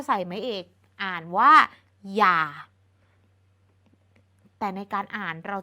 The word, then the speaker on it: อย่า: อย่าง นี้ แล้ว ก็ คำ ว่า อย่า ที่ เป็น หอ นำ ย แบบ นี้ ทั้ง สอง คำ นี้ เป็น คำ ที่ ออก เสียง เหมือน กัน คือ อย่า เป็น คำ ที่ มี อักษร นำ